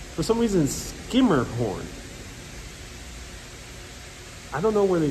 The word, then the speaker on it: Schermerhorn: don't know but for some reason it's not schermerhorn which would be uh like a german pronunciation um it's not skimmer a skirt scrumer